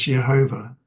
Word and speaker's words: Jehovah: number of the Tetragrammaton, Yod He Vav He, pronounced as Jehovah, the ineffable name of God.